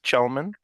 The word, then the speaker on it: Chelemen: So tonight is our second Chalk Talks, and we have guest Grace Chelemen. Is that the correct pronunciation?